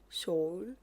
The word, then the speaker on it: Seoul: I'm trying to say it correctly because I've been saying it wrong. Um, so I'm back in Seoul. Soul.